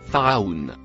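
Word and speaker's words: فرعون: Le mot écrit en vert se prononce phare. Celui en bleu clair se prononce aoun. Les deux mots attachés ensemble se prononcent pharaoun.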